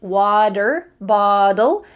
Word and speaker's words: water bottle: of an american accent it uses the t changing to a d water bottle and it also uses